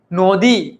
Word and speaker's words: নদী: নদী ন ও সরে অ নদী সরে। দেখো নদী উচ্চারণ করতে গিয়ে আমার অ আসতেছে। নদী ওকে উচ্চারণ করো সবাই আমার সাথে। নদী সবাই উচ্চারণ করো। দেখ একটা অ শুনতে পাবা।